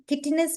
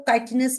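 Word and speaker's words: chitinous: इनकी body covered है, एक किटिन, किटिनस भी बोल सकते हो, काइटिनस प्रोनाउंस कर सकते हो, वो एक्सोस्केलेटन है।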